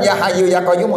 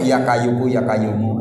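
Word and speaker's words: يا حي يا قيوم: Ini baca, maaf udah tua orangnya kan, bacanya bukan ya Hayyu ya Qayyumu, ya Kayyuku ya Kayyumu, ya Kayyuku ya Kayyumu, ya Kayyuku ya Kayyumu, begitu bacanya. ya kayuku, ya kayumu, begitu.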